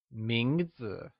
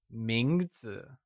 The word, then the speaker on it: 名字: 名字 is pronounced with a mid-rising tone. Let's hear you say 名字.